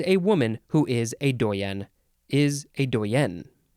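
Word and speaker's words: doyenne: the words Dean and doyen or dwayian next word okay similar word doien you emphasize the second syllable here doyen or Dwayne noun from Circa 1897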